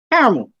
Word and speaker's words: caramel: It's literally CARA. not CAR. Hang on, how does some Americans say it? Caramel? Caramel, just drop the Yes. second A.